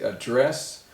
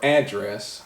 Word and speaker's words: address: stress of the word where I put the stress or the emphasis so the one word is spelled a DD or ESS it can be a dress or a dress the address the stress is on the second syllable or address the stress is on the first syllable so depending on where